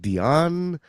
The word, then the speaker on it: Dion: don't you go ahead and introduce yourself mr dion hey well first of all thanks for having me uh my name is dion uh like celine so it's zero in french